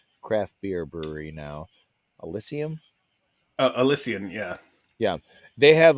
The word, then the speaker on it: Elysian: There was an Elysium. Is that how you pronounce it? ELY. I mean, it's an AB InBev craft beer brewery now. Elysium. Elysian, yeah.